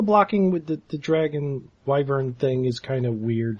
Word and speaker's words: wyvern: Google pronunciation says it's wyvern.